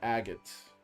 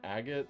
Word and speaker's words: Agate: Yeah, agate, I think. Yeah. Agate. You know what agate rhymes with? Bob Saget.